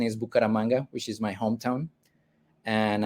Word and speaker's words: Bucaramanga: So yes, for the correct, in case you were wondering, Gonzalo Peña-Castellanos, and the city that Reshama was pronouncing is Bucaramanga, which is my hometown, and I'm the organizer of the meetup from that city, even though I'm not currently living there.